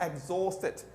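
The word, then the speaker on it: exhausted: उसके बाद है एग्जॉस्टेड। ओके, एच साइलेंट होता है। ब्रिटिश की आदत है ये एच को अक्सर साइलेंट करते हैं।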